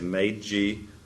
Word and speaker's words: Meiji: That's how you say it, Meiji Restoration.